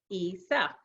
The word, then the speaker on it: Essa: you'll see that I taught readers how to pronounce my name right there so I've got my hood duh ISA pada ISA I never used to do that